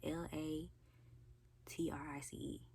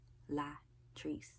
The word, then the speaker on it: Latrice: Latrice La Teresa spell la t-r-i-c-e La Trace that's how you pronounce it where everybody says Latrice so I just yeah